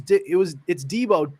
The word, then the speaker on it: Deebo: It's Deebo, 2 E's, and he was saying D like 1 E.